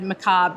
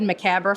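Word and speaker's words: macabre: I had to think before I said macob because I said macabra for a very long time.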